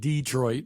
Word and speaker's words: Detroit: You got to say it Detroit because that's how they say it up there.